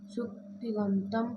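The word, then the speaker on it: सुप्तिङन्तम्: अब ये जो सूत्र है सुप्तिगंतम, हाँ बहुत से लोग इस सूत्र को का उच्चारण है बड़ा सरल सूत्र, लेकिन उच्चारण गलत कर देते हैं। इसका उच्चारण शुद्ध होना चाहिए। उच्चारण जरा करो एक बार। सुप्तिगंतम पदम, ठीक है ना।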